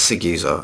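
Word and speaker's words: Siguza: Seguza, it's Seguza.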